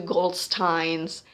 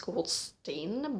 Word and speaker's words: Goldstein: also we have to Goldstein's I actually know that in English it's pronounced called stain but I thought that it was from Herman from Germany so I'm pronouncing that as goldstein sorry um so we have